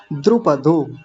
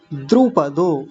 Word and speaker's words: द्रुपदो: 18वा श्लोक द्रुपदो द्रुपदो। कुछ लोग जल्दबाजी में द्रोपदो कभी कुछ और बोल दे रहे हैं तो जैसा लिखा है वैसा बोलेंगे ना द्रुपदो और अगला थोड़ा सा